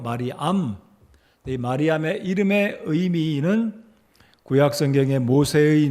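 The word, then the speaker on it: Μαριάμ: 여러분 마리아 이름의 뜻은 헬라어 발음은 말이 암인데요 말이 암 마리암의 이름의 의미는 구약성경의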